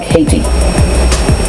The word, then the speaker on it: Hayti: There was a community called Hayt, and it's spelled Hayt, or T-I, Hayti, and how would you pronounce it? It's like a Haiti, huh?